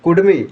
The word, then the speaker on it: कुड़मी: कुर्मी नहीं है, कुर्मी है उच्चारण। और ये झारखंड नहीं है, झारखंड होगा। क्या लिखेगा? कुर्मी, कुडमी। हाँ, कुर्मी, कुडमी या तो मतलब जो कुर्मी लिख रहा है नहीं, वो उचित नहीं है, वो संविधानिक नहीं